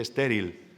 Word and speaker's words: estéril: No se dice still, se dice estéril.